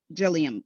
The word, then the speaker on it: Jillian: no that's amy amy jillian jillian wait did i pronounce your name correctly just as if you were to say william but with a g okay gilliam correct all